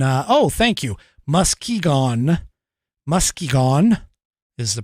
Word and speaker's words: Muskegon: is corrupt and uh oh thank you Muskegon Muskegon is the pronunciation um but anyway um they have already